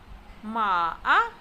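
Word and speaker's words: 马: Ma-a. Ma-a is said with the falling rising tone, also known as the third tone.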